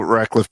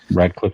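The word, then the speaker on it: Radcliffe: rude what uh what Daniel rackliffe did or r Cliff is that how you pronounce that kid's name rad Cliff yeah M he's not a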